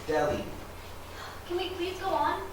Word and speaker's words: Delhi: the age is silent it's pronounced delhi can we please go